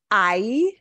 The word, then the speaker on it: hay: are I and remember we don't pronounce the ache I which means there is